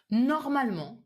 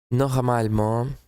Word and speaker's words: normalement: So you wouldn't say normalement, régulièrement. The pronunciation would be normalement, régulièrement. Almost as if this E was not there.